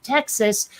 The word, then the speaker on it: Texas: a native native of texas by the way they pronounce the name of their state because everyone else pronounces that s like an s but if you're in texas it's a z just say and you